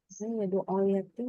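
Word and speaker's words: يدع اليتيم: Yadu'ul yatim di mana ya? Di tasdid. Oke, Nanda bacakan yadu'ul yatim. Maka dibaca yadu'ul yatim, yadu'ul, yadu'ul. Jadi nggak sampai tegas.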